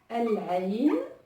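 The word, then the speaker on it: العين: El-Ain, qui veut dire l'œil. Et donc qui s'écrit, qui se lit comme ceci, El-Ain. Et donc là, pareil, on voit bien que le lemme de l'article est prononcé, donc El-Ain, et donc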